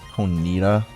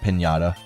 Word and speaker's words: Ponyta: If you guys are wondering why I'm pronouncing it as Ponyta, it's because my girlfriend calls it Pinata, and I keep thinking of that, so I'm kind of hesitating when I say it.